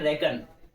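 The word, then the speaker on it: reckon: क्या प्रोनाउंस करेंगे? रेकॉन। नहीं मैंने अपनी शॉर्ट वीडियो में बताया था इसे। इसे हम पढ़ते हैं रेकन।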